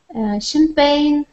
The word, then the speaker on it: champagne: G isn't often not pronounced when followed by an N. Champagne, foreign, sigh, fiend.